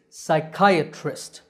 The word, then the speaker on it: psychiatrist: the correct pronunciation is psychiatrist it starts with psy the P is silent the part in the